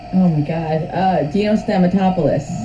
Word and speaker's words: Dino Stamatopoulos: So she's actually working with, how do you pronounce his name? Dino Stamopoulos? Oh my god. Dino Stamatopoulos. Dino Stamatopoulos, and they are working on a graphic novel together called Trent.